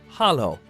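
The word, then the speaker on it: Halló: hello and Icelandic is pronounced Hollow thank you is talk yes is yah no is nay goodbye is bless 14.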